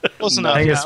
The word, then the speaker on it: Hengast: Am I pronouncing Hengast, yes. Kind of like Zeitgeist, yeah? Close enough. Hengast more is Anglo-Saxon, but whatever.